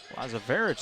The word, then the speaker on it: Lazarevic: Lazarevic with the quick 2. Lazarevich is what they're saying.